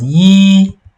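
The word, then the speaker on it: 一: we learned, which is it's pronounced as Yi, like this, with the first tone.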